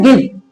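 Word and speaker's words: give: Word इ लिखा जरूर है। स्पेलिंग ई से बनती है। बट ई साइलेंट रहता है। इसलिए इ को नहीं पढ़ा जाता।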